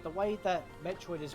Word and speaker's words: Metroid: With Metroid, it's only one E, so it's only a short E sounding. Yeah, because it's like a fusion of Metro and Droid, so it's Metroid.